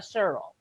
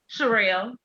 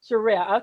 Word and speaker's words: Sherell: Is it Sherelle or Cheryl? Sherelle. Sherelle. Okay. So I pronounced it wrong.